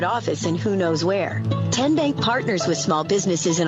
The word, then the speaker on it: TN Bank: arena in three minutes how do you say the name tn bank no tin bank so what is it ten bank ten as in tennessee right here where all